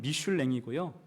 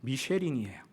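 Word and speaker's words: Michelin: 다만 미슐랭이라고 부르는 것은 발음상, 불어로 발음할 때는 미슐랭이고요, 영어 발음으로는 미쉐린이에요.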